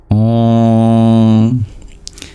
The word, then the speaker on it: Om: And the M with the dot below it is pure nasalization. Om.